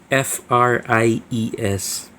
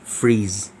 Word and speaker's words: Fries: his last name spells f-r-i-e-s we pronounce it as fries but when you pronounce it in german it's freeze so he is dr